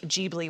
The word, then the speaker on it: Ghibli: and says he says it sounded to me like jeebly was the pronunciation you know our americanized version do you know what you're talking about nope wow do you understand when you say ghibli ghibli whatever oh what